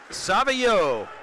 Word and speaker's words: Savageau: Savio. That's a tough one to pronounce. I've never seen that name. Savageau. Savio. And he's a senior goalkeeper.